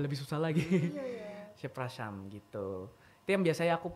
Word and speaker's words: przepraszam: Permisi itu kalau di Polandia tuh przepraszam. Zepraszam. Iya, przepraszam. Agak susah. Iya. Pronunciation-nya agak susah. Apalagi kalau baca itu tambah lebih susah lagi. Iya, iya. Przepraszam gitu.